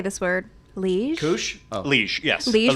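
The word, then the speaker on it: Liège: So at Epcot at Connections Cafe, you can get a caramelized apple, I don't know how to say this word, liege?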